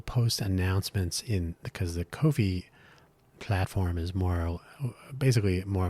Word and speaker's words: Ko-fi: I pronounce it Kofi to emphasize that it's Ko Kofi. Uh not to be confused with coffee, even though it's probably pronounced coffee.